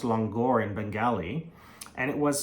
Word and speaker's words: langar: actually originally a Persian word and it's actually pronounced longor in Bengali and it was something introduced by